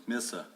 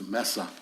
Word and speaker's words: Mesa: know what it was misa well actually when you pronounce it in spanish it's mesa right exactly we had that